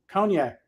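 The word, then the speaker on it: konjac: there made from the conac not not the drink it's a it's spelled like kjac okay it's a a root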